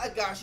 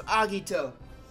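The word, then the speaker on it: Agatio: That's what it was, not Agashio, it was Agito. I knew I've seen the name somewhere else in a anime where their name it was spelled similar and they pronounced it Agito.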